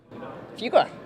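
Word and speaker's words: Fuqua: went to a great business school oh yeah fuga fuga that's right we're both Blue Devils and pronounce it right by the way my my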